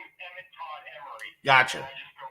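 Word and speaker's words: Emory: Yeah, T-O-D-D, and then my last name is Emery. It's spelled E-M-O-R-Y, so it's a little different.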